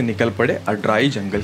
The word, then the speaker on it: Aadrai: कोई कोई अड्राई बोलता है, कोई अड्राई बोलता है, कोई कोई अड्राई बोलता है। तो इसका प्रॉपर प्रोनाउंसिएशन है अड्राई जंगल ट्रैक।